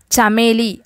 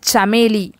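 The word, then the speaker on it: चमेली: ஜாஸ்மினை ஹிந்தியில் எப்படி சொல்லணும் அப்படின்னா சமேலி, சமேலி. ப்ரொனன்சியேஷன் அதுக்குடைய உச்சரிப்பு கீழே எழுதியிருக்கேன் பார்த்துக்கோங்க, சமேலி, சமேலி அப்படின்னு சொல்லணும். குமுதினி, இப்போ நீங்கள் பார்த்துட்ருக்க பூ வந்து குமுதினி, குமுதினி அப்படின்னா லில்லிப்பூ, அதாவது லில்லியை சொல்கிறது தான்.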